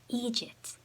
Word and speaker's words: eejit: Eejit.